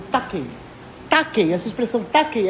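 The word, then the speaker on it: τάχει: Se escreve com o ki grego, que tem a letra X, mas se lê como ki, que é a mesma letra do Christos em grego.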